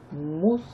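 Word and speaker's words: مصلحون: Arrivé à la fin de la ayat, on ne prononce pas la dernière harakat. Muslihoun. Muslihoun, c'est le conciliateur, c'est celui qui fait en fait le bien.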